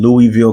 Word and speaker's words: Louisville: That is in Louisville, Kentucky, to say it correctly, Louisville, Kentucky.